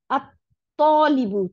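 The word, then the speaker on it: الطالب: আত্তলিবু, ত, আলিফ, জবর ছিল, এখন আলদতে লামটা গিয়ে তকে দুইটা ত বানাই দিছে, দিয়ে তখন উচ্চারণটা ছিল তলিবুন, তলিবুনটা যখন আল দিলাম তখন এটার উচ্চারণ হলো আত তলিবু, আত তলিবু, দুইটা ত হয়ে গেল।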